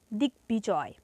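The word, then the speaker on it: দিগ্বিজয়: এর উচ্চারণ করতে হবে যেমন দিকবিজয় এটা সন্ধিজাত শব্দ এখানে ব ফালার উচ্চারণ বজায় থাকবে তাহলে কি হবে দিকবিজয় এখানে বিজয় বানানে কিন্তু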